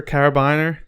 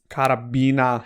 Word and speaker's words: carabiner: carabiner is or carabiner it's carabiner carabiner i want to call it a carabiner banana well i have four of them carabiner um because it's spelled c-a-r-b-i-n-e-r you want to say carabiner caravan but it's originally a german word carabina carabiner yeah so characters